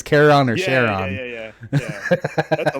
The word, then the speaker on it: Charon: Well, no, because you said Yeah, Charon or Chiron, however you pronounce it, and I said it's Charon.